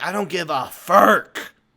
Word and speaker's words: Furk: Furk. Spell it.